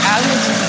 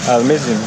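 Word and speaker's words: المدينة: dos franceses, mas que na verdade a pronúncia certa, a pronúncia árabe, Al-Medina, né? Al-Medina. Al-Medina.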